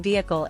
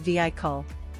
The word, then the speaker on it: vehicle: his directoral debut five saying vehicle as vehicl instead of viic call fix split it into two syllables viic call vehicle grammar